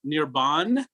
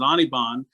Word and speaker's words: Anirban: nirvana referred to as nirban. So my name is not Nirban. Anirban is that the way it's spelled. As it turns out, I pronounce it Anirban.